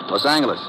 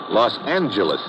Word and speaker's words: Los Angeles: moved out to California Los Angeles correction Los Angeles oh yeah soft G it's official now so